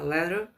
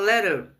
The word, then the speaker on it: letter: O americano fala letter e o britânico fala letter, tá? Então, a pronúncia, contanto que você fala, se quiser falar letter, só não deve falar muito letter, né? Aquele R do final ali você não pronuncia.